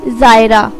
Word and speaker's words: Zaira: नाम है जायरा। जायरा नाम के इंग्लिश में स्पेलिंग है ZAIRA और इसके मायने हैं सैर करने वाली, घूमने वाली।